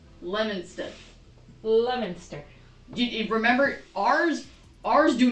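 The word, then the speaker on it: Leominster: So, so this one I see it and I would think Leaminster. That is not how it is. That is not how it is pronounced. It's pronounced Lemonston. Lemonster.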